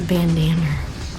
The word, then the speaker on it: bandanna: bandanna and use that that's a bandanna it rhymes with banner okay i i probably